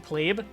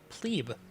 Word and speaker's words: plebeian: plebe that has pronounced people say pleb nowadays in plebeian that's actually a mispronunciation that's not range okay okay um how I want to do this you would be in range of anything over here so i might as well have an entertainment building yep plebe is the latin pronunciation get